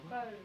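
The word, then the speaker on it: Faube: Fode. Hi. Hi. How do you spell that? F-A-U-B-E. Fode? Fode, yeah.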